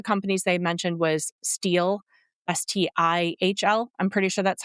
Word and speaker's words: Stihl: One of the companies they mentioned was Stihl, Stihl. I'm pretty sure that's how you pronounce it, Stihl Tools.